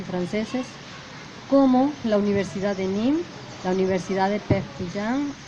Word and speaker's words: Nîmes: CRES, de la Universidad de Nimes, así se pronuncia, maestro, Nîmes, en Francia, y del Centro de Investigaciones Iberoamericanas y Latinoamericanas de la Universidad de Perpignan, en Francia.